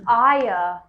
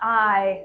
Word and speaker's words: Aya: he motions over to the female Ayah not I not the eye a-y-a oh yeah yeah not that one spelled as and pronounced that I kind of miss